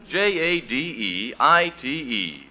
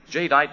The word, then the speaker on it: jadeite: hockings amazing new kind of dinnerware jadeite now it's spelled jad e ite jadeite and jadeite has the color and texture